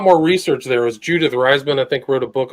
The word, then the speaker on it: Reisman: How do you spell it again? Judith Reisman. It's Reisman.